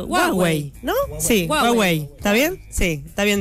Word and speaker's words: Huawei: Cómo se pronuncia Huawei No sí hwei está bien Sí está bien dicho Bueno les